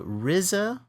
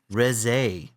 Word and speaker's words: Reze: Is it the Rizza or RZ arc? How's her name pronounced? It's neither. It's re res.